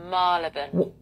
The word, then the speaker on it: Marylebone: Marylebone. You are rubbish. Number seven. Loughborough. What? Loughborough. You, why not eight.